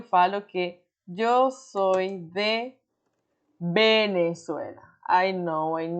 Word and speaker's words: Venezuela: Porque muitas vezes, quando a gente quer caprichar numa pronúncia, a gente fala Venezuela. Pode acontecer. Mas a regra geral, a maioria das pessoas falam com o som da B, e isso já foi